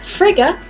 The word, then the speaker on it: Frigga: known as freak or Frigga of the Norse pantheon now freak or Africa either pronunciation is correct she is known as